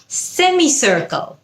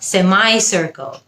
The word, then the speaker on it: semicircle: Semi নাকি সেমাই, দুটোই correct. Semi হলো ব্রিটিশ উচ্চারণ এবং সেমাই হলো আমেরিকান উচ্চারণ। It's a semicircle, British. It's a semicircle, American. আরেকটা শব্দ যেটার উচ্চারণ নিয়ে